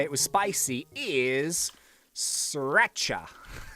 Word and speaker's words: sriracha: I've got my marshmallow bee, and the code, I did say it was spicy, is sriracha. Like the sauce, like sriracha sauce. So it's spelled with a R in the middle.